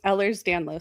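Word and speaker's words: Ehlers-Danlos: How is it pronounced? So, I have hyper mobile Ellers's Danlos syndrome and most people just say hyper mobile EDS because that's a lot easier.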